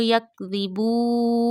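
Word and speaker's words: يَكْذِبُونَ: Before waqfe tam, if the last letter has a fatha, zamma, kasra on it, we make it sakin because of waqf. Bima kanu yakdhibu.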